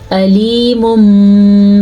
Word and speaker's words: علیم: دو اس کو میں نے آ پڑھا اور اس کو پڑھا آ، اس لیے آپ عین کو ادا کرنا سیکھیں. عین کو عین ہی پڑھیں گے، حمزہ نہیں.